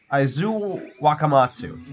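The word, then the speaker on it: Aizu-Wakamatsu: How is it pronounced? Aizu Wakamatsu.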